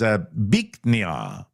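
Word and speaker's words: Bich Nga: The correct pronunciation is Biknia. Biknia.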